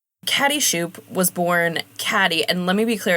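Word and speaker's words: Cadie: Yeah, Catty Shupe was born Caddyy. And let me be clear, it's spelled C A D I E. We've always pronounced it Caddyy, though I could see a world in which it's pronounced like Katie, but we've always said Catty.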